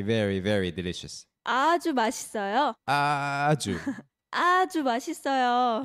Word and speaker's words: 아주: 아주. 아주 맛있어요. You have to pronounce that really long there.